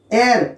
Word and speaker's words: heir: एयर, HEIR, इसका pronunciation एयर से होता है।